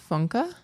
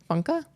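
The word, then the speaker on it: Funke: name wrong it's Cornelia funka so it's f-u-n-k-e and in German if there's an e on the end it's like it's like Danka so funka um and this was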